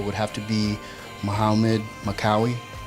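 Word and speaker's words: Makkawy: have to be Muhammad makauwi maekawa I believe he pronounced it and he was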